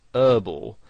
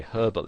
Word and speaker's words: herbal: Now, in American English, the word herbal has the H silent, so they pronounce it herbal. Now, you might find somebody actually spells it that way, herbal essences, because that's how they would pronounce it, whereas in British English you would pronounce the H, and you would say herbal essences.